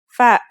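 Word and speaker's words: ف: to learn today is fab fa is pronounced just like the english f notice how this letter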